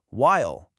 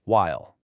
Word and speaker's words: while: In the UK, you might hear a bit of a who sound at the beginning, like while. But in the US, it's a cleaner while.